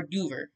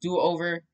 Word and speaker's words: Doover: to do-over um or duver i call him duver but it's actually pronounced do-over um and also his